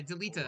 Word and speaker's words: Delita: That's how his name's pronounced? Yeah, Delita.